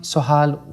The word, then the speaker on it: Sohal: And, you know, we're living in a time, Sohal, where, am I pronouncing your name correctly?